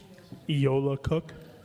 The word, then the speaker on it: Eola Cook: on this item is I'm going to pronounce his name wrong Eola cook my apologies it's okay you actually got it right so I'm impressed and